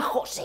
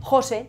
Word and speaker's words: José: En todos los casos, José es una palabra átona, porque se apoya en el segundo nombre y la sílaba más fuerte pasa a ser la primera.